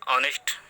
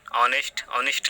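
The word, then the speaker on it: honest: आ एन ऑनेस्ट मैन, ऑनेस्ट लिखा गया, तो आ से शुरू हो रहा है, इसलिए स्वर ध्वनि है।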